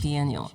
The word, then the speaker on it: biennial: and the Lagos Is that, how do you pronounce that? Biennial? Correct. Biennial.